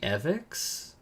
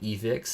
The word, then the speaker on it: evex: or my Channel's name it's actually evex so like EV because some people have been like evix that have like but not quite but it is like evx and so not that